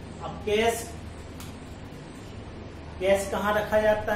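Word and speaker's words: cache: कैसे कैस इसे कहते हैं, कैसे नहीं लिखा सी ए सी एच ई, लेकिन यहाँ सी एच ई सा बनता है, आपको प्रोनाउंसिएशन का भी एक लेक्चर दिया जाएगा जिसमें आपको बताया जाएगा कौन सा वर्ड कहाँ आकर के बनता है, यहाँ सी एच ई सा बन रहा है, ये कैस।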